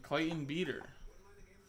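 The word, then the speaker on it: Clayton Beeter: would be pretty cool and clayton beat her that is how you pronounce it man that doesn't sound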